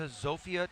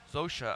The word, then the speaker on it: Zofia: as we roll into zofia Tula zosha I should say is the way people pronounce her name she was the World